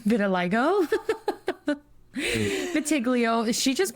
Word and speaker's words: vitiligo: And scar camouflage for burns or vitiglio? No, vitiligo.